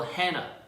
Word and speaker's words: Hannah: Okay, the H at the end is not even pronounced in English, so it's also same in Korean. It should be Hana or Hanna, or any way you want to go at it, but the H is silent at the end.